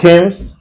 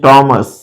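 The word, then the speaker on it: Thomas: right pronunciation तो होगा लोग कंफ्यूजन में इसे थम्स और इसे थामस कहते हैं वो गलत उच्चारण करते हैं इसका करेक्ट प्रोनंसिएशन मस है मम्स एंड दिस वन इ टॉमस अपेक्षा है आपको यह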